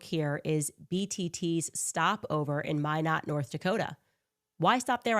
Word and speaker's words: Minot: You might recall it stopped for just one hour in May not North Dakota which I learned has an Air Force Well, at least you're pronouncing it right. Last time she said Menot.